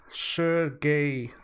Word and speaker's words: Sergey: Sergey Maslov is here. I pronounced his name wrong at the 30-minute challenge. I had to say gay and not J.